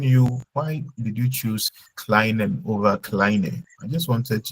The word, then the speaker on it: kleine: So when the E comes before the I, how do we pronounce it? I. My kleine, right?